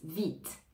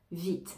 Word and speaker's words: vite: c'est-à-dire à grande vitesse vite vite on entend bien le T le E ne se prononce pas mais le T